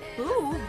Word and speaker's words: Boof: Boof rhymes with groove.